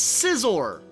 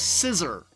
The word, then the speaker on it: Scizor: of pointless Boesel it's scizor the Pokemon whose name can often be mispronounced as scissor as an ass thing